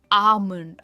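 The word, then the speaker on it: almond: इसमें हम एल है ना प्रोनाउंस नहीं करते। इट्स आमलंड। आलमंड यानी बादाम।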